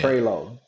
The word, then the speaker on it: Prioleau: Prileau? You missed Prioleau. Say it for me. How do you say it? Prioleau. Prioleau?